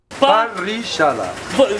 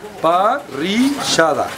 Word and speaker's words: parrillada: Da tradicional parrillada, nome difícil de pronunciar, tive que pedir ajuda. Parrillada. Chega aqui do meu lado, Juan Carlos. Me ensina a dizer parrillada.